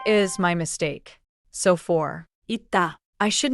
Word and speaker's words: 있다: third final 쌍시옷 sounds like as in 있다. pronounced 있다.